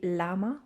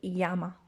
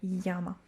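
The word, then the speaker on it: llama: don't know uh but the double l in spanish is pronounced ya it's called a ye and it's pronounced like a y ya so we don't say lama we say yama when you have double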